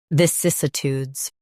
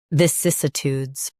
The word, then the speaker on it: vicissitudes: Stress cis and keep uh light.